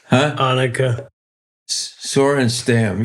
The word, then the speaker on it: Annika Sorenstam: Let me think of how you pronounce it. Anika Sorenstam. Come on, you know it, guys. It's Annika Sorenstam.